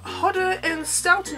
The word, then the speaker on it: Hodder & Stoughton: and frost that is so cool published by hodder & stoughton earthy that's how you say it that is